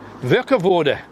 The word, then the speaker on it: Warkworth: end now we're in walk with or should i say to use the right pronunciation would work of order now why would we